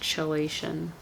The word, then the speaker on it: chelation: Never mind, it's pronounced chelation.